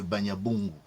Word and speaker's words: Banyabungu: Dit l'auteur, Banyabongo n'est sans doute que la prononciation défectueuse de Banyabungu.